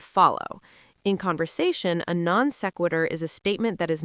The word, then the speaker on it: non sequitur: We call this a non sequitur. Whoa, that is fancy Latin. Non sequitur. Can you spell that for us?